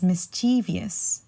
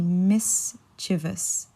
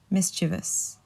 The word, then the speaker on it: mischievous: mischievous and usually I hear this being um pronounced as mischievous so many people say it's mischievous just because of the way it's spelled but it's actually mischievous mischievous so the the meaning behind mischievous would be